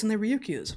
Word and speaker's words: Ryukyu: These are found off of the, I think it's pronounced Ryukyu Islands in Japan, between just north of Taiwan. And the Ryukyu Islands, incidentally, which has